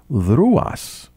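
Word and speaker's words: Δρυάς: Let me just say that the letter Y in ancient Greek, when pronounced, is U, correct? Mm-hmm. So D-R-Y-A-S, Dryas in modern Greek, is really Druas, correct?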